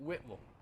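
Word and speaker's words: Whitwell: know where it's at but it's really they pronounce it whipple you must have learned that up there afterwards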